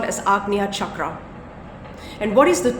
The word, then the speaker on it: Ajna: as the AGA chakra AJ na a however it's pronounced as AGA chakra AGA chakra is located